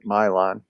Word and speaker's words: Milan: Milan, which is spelled Milan, but they pronounce it Milan.